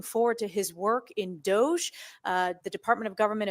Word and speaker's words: DOGE: do by the way it's not Doge everyone says Doge because that's how it looks like it should read but it's government efficiency which is a hard G not a soft G so it really is dog I'm just saying it's